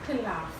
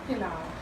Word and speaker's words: pelau: I am not saying pilaf, I'm saying pilau.